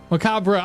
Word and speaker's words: macabre: Um oh your face when you're when you uh when you heard Macabre correctly pronounced h macabra.